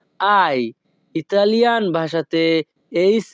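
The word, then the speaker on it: hai: দিকে কোজা আয় বিজনীয় এখানে এইচ এ আই এর উচ্চারণ হবে আই ইতালিয়ান ভাষাতে এইচ এ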